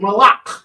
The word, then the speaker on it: malak: And this malak is not to be mixed up with malak, which means king. That's what the word malak with a soft K is king in Hebrew. Nope, CH. M-A-L-A-C-H. And this is the difference. This malak has a hard cut.